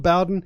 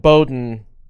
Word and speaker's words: Bowden: It's spelled Bowden. It's pronounced Bowden. Pronounced Bowden.